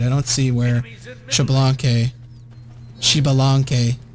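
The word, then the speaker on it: Xbalanque: Chibalanque is how you pronounce his name. I always pronounce it Chablanque, but... It's not a French name. It's Chibalanque. Because it is a not French name.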